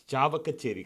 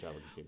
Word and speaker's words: சாவகச்சேரி: ஸோ என்னென்னா, நீங்கள் வந்து அந்த ஹிந்து காலேஜில் படித்து சாவக்கச்சேரி, கரெக்டாக சொன்னேன்னா இல்லை அது எப்படி ப்ரொனவுன்ஸ்? சாவகச்சேரி.